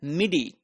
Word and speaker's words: MIDI: an alternative method known as Mi which is pronounced as midi so this is musical instrument digital interface used